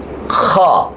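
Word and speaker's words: خ: গিয়েছে এটা হচ্ছে জি এটা হচ্ছে খ গলার মধ্যে একটা খুসখুস একটা ব্যাপার কাজ করবে যেমন খচ্ছে হা খ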